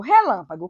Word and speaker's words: relâmpago: Por exemplo, relâmpago, como que eu separo? Relâmpago. Qual é a sílaba tônica de relâmpago? Relâmpago. Lã.